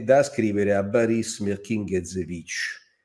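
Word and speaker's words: Boris Mirkine: è da scrivere a baris mering lo pronuncio alla Fran perché fu naturalizzato francese era nato in in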